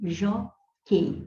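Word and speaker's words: jóquei: Acontece que o U não é pronunciado, não é pronunciado. E nessa questão de classificar encontros vocálicos, ou seja, ditongo, tritongo e hiato, as letras que representam esses encontros têm que ser todas pronunciadas. Então, aqui você só pronuncia o Q e o EI, jockey.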